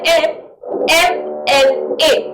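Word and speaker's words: MLA: क्या आता है, एम एम एल ए। तो देखो ये भी क्या लिखा हुआ है, एम लिखा हुआ है। इससे पहले भी वोवल साउंड ए आ गया है, तो इसलिए यहां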